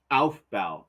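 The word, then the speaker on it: Aufbau: the albal principle and you have to say it like that ALB because we are St and we are German and it's funny Alf B A UF B A Alf B principle okay and the definition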